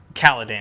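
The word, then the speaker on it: Kaladin: I think main character Kaledan, and it's pronounced Kaledan. I I listened to the audiobook to make sure.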